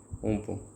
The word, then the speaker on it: Amphan: इसकी प्रोनाउंसिएशन है guys उम्पुन।